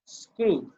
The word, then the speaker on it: screw: যেমন SCREW, এটার উচ্চারণ করি আমরা হচ্ছে স্ক্রু। এবার এরকম উচ্চারণ করি না, নাকি স্ক্রিউ উচ্চারণ করি?